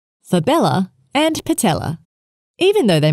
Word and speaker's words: fabella: Patella, cyamella, fibella. The cyamella is a sesamoid bone, usually embedded within the popliteus tendon, while the fibella usually sit within the tendon of the lateral head of the gastrocnemius muscle.